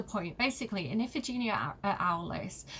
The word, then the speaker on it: Aulis: One of my favourite terrible examples of this is if you read, I'm probably going to pronounce it wrong, but Iphigenia at Alice, Iphigenia at Aulis, which tells the story of Agamemnon, he's kind of the king of kings, right?